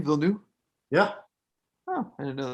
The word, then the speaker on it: Villeneuve: That's how you say his name, Villeneuve?